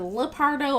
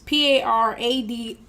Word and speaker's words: Paradou: Is it Lepardo or Pardo? It's Paradou.